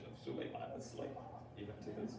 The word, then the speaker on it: Suleiman: And so Suleiman translates this to Solomon. Oh, okay. All right. And that name is pronounced Suleiman in That's- Lebanese Arabic.